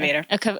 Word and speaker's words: Mirnavator: So you are known as the Mirnavator. Mirnavator. I said that wrong. Sorry. Everybody makes that mistake. I don't know why, but it's Mirnavator.